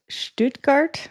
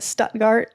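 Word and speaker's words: Stuttgart: So, next we took the train to Stoutgart, I think is how you pronounce it, even though I've been calling it Stutgart as with my American accent.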